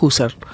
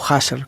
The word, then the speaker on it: Husserl: Milei es un ser amputado, como diría Husserl, o Husserl, como quieran pronunciarlo.